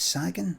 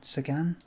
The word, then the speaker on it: Sagan: Is it Sagen? Sagan.